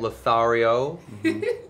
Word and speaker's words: Lothario: actor out of work at Lothario lario is that how do you say it I'm Canadian lothario thank you why did your